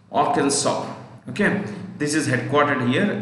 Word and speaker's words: Arkansas: Round Rock, Arkansas. The last S is silent usually. Arkansas.